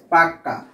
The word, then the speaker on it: পাক্কা: খেয়াল করো আমি এখানে বলতেছি পাকা আর এখানে বলতেছি পাক্কা, দেখো এই যে ক এটা কিন্তু আমরা দুইবার উচ্চারণ করতেছি, অর্থাৎ কোনো কিছুকে জোর